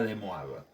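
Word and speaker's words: De Moivre: llama el teorema de demoraba se escribe de mover sí pero es un apellido francés y se menciona demoraba supongamos que tenemos dos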